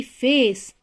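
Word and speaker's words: face: लेकिन अगर सी के बाद में ई है तो वहां पे उसकी प्रोनाउंसिएशन क ना होके स हो जाएगी, जैसे कि फेस, पेस, ट्वाइस, इस तरीके से।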